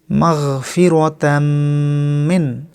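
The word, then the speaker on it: مغفرةً من: মাগফিরাতাম মিন। মাগফিরাতাম মিন। মিম অক্ষরে ওয়াজিব গুন্না করতে হবে, একালিফ পরিমাণ।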